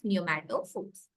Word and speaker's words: pneumatophores: Breathing roots or pneumatophores is the name of the term. So P is silent here, we call it as pneumatophores.